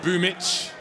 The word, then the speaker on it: Boombl4: If you don't know how to pronounce that, that is Boomich.